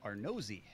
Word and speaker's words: Arnozzi: I can help you with Milan. It's Arnozzi is his last name.